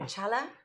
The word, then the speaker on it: challah: going to probably say this completely wrong, the challah? Challah. Okay, I'm So never going to pronounce that challah.